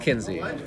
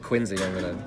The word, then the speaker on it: Kinzie: also from team 420 it's pronounced Kinzie for the love of God one more person calls him Jake Quincy but the main deck